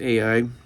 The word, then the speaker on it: Ai: It was Ai. I've heard people pronounce it sometimes just I. That's the correct pronunciation for the diphthong, but I'll use Ai because a lot of people identify that better.